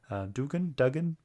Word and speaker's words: Duggan: Duggan? Jerry How do you say Dugan. it? Dugan, yeah.